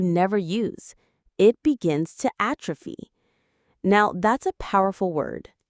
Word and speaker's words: atrophy: The muscle has started to atrophy. It has shrunk from lack of use. Let's practice the pronunciation together. It has three parts. ATropy. Atrophy. The stress is on that first syllable. A. Atrophy.